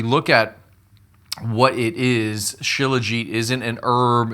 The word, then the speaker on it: Shilajit: That's really the question we're going to answer today on an ancient miracle resin called chiliget. It's spelled ch C or sorry, S H I L A G E T.